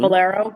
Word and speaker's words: Valero: Valero.